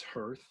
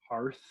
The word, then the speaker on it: hearth: on her own brother's hearth hearth earth hearth how do you say that i say i think it's hearth i think i say it hearth because it looks like hearth and that's a fun